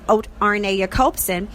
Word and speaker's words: Arne Jacobsen: he's from norway so um that name is pronounced rna copsen and of course we will be talking to